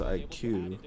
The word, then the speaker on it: iQOO: left hand go throw that's what this is pronounced IQ China is using any